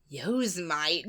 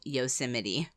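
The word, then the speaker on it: Yosemite: whenever I read it I'd always pronounce it yo Mite yosmite yosmite it's yosmite the national park yes which is actually yosity yosity and people would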